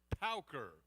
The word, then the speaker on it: Pauker: It's Pauker, as in P-O-W.